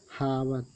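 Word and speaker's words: hour: English में स्वर, तो स्वर से पहले यच साइलेंट रहता है। फॉर एग्जांपल देख लेते हैं। देखिए, हावर हावर में क्या होता है, घंटा, तो समय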